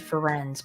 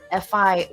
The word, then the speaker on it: Firenze: Because to me, when I read that, I read Ferenz, but that's not how Ferenz is spelled.